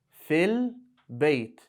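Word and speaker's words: في البيت: Fil bayt. Where are you? Fil bayt. In the house. I ended it with a sukoon, so you'll pronounce it like that, but when it's written,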